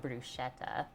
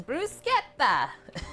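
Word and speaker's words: bruschetta: of how she said how we say it in North America bruetta but they said it's brucea every time and she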